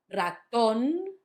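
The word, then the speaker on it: ratón: So the first one is on the last syllable, raton, not raton, raton, raton.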